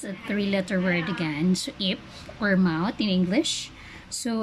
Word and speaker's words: 입: So as you can see, the letter that's NG, which is silent, so we cannot read that one, only the. So that's a consonant, letter I, and letter P.